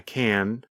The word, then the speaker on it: can: When we say the positive form, we pronounce the letter N longer. The N sound, n, n, n, lasts longer than in the negative form.